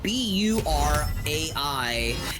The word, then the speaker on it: burai: Uh, Shakrazier, how would you pronounce the name? Uh, B U R A I in Japanese.